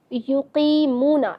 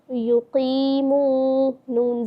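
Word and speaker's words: يُقِيمُونَ: युक़ीमूना, इसको हम हिज्जे के साथ पढ़ के देखेंगे। इस तरह या पेश यू, क़ाफ या ज़ेर क़ी, युक़ी, मीम वाव पेश मू, युक़ीमू, नून ज़बर ना, युक़ीमूना, युक़ीमूना।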